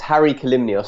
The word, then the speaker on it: Hari Kalymnios: be by my main website now my name is spelt a bit weird it's Harry calumnious so that's H a RI k a ly